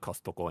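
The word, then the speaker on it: コストコ: because we call it kostoko in japan but we pronounce we pronounce the t in japan but um they sell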